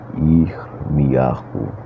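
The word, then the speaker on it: ירמיהו: Vamos dar início à leitura do livro de Jeremias, que em hebraico se pronuncia Irmiyahu.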